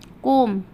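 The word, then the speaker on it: comb: अगला है हमारा कोम, कोम पढ़ेंगे। देखिए COM बी, तो हम इसको बी को नहीं पढ़ेंगे, हम पढ़ेंगे कॉम, कॉम।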